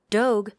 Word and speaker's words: Doge: eaten in two seconds Doge to rhyme with Vogue just opened up in